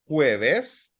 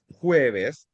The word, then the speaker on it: jueves: The Thursday we have jueves. Ju- No, jueves. Jueves. Jueves. Jueves. Okay, pronounce it again.